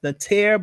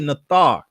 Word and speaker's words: Nathar: Some people pronounce it as Natir, but we say the correct enunciation is really Nathar.